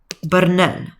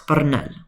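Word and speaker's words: բռնել: Bernel. So this one you're going to roll your Rs. Bernel.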